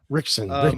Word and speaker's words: Ritchson: Well, folks, just in case you haven't seen that one yet, that's Jack Reacher himself, Mr. Alan Ritchson, I believe it's pronounced. Rickson.